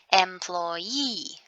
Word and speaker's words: employee: Then in this word, we're going to say it with a stress on the last syllable. Employee.